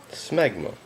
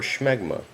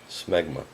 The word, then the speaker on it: smegma: Smegma or schmegma. It's more fun to say it the second way, but everything I can find, it appears that the first pronunciation is correct. Smegma.